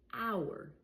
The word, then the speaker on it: hour: Another example, hour. Hour. Here it's before. It's at the beginning of the word and I don't pronounce it.